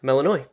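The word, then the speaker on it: Melinoë: want to do is go over how to pronounce the protagonist's name there we go melanoi Wikipedia has melanoi as the moon goddess in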